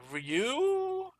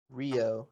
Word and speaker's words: Ryooo: two uh challenger tournament match uh between uh ryu and screw this rio it's how he likes it pronounced okay so rio all right anyway